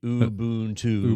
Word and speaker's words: Ubuntu: I don't say Ubuntu right, but it's supposed to be Ubuntu.